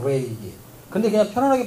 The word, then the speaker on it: 레위기: 때문에 그래요 여러분 그 레위기 그럴 때는 그 알 사운드 발음을 해야 거의 정확하거나 레위기 근데 그냥 편안하게 발음하면